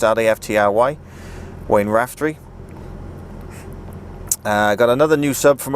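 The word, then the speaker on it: Raftry: I think it's Wayne Raftree. I think that's how you pronounce it. R-A-F-T-R-Y. Wayne Raftree.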